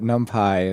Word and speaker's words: NumPy: that they call that pipi and they call numpai and and so just pyx for example, right? It could have many pronunciations.